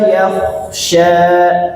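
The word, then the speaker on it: يَخْشَى: Wahua yak ini kalau dari segi cara baca khnya ditebalkan. Wahua yakhsya Wahua yakhsya faantahuah faantahuhaha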